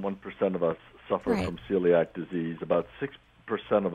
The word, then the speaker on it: celiac: they were talking about is it celiac disease is that how you pronounce it yes it is um now how can